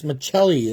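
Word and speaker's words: Maccelli: Machelli, that's how you pronounce it.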